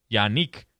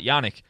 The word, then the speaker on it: Yannick: By the way, I learned how to say this, Yannick and not Yannick.